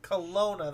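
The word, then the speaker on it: Kelowna: Kash I can't it's hard for me to pronounce the name of the city that you were in. Is it Colona? Colona.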